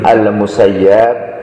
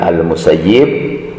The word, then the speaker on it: Al-Musayyab: Kemudian ia meriwayatkan hadis dari Sa'id bin Al-Musayyab, sebagian ada yang membacanya Sa'id bin Al-Musayyib.